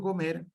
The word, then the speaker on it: comer: Si digo comer, lo mismo, comer. Marco el acento en la E, comer, pero no lo tildo.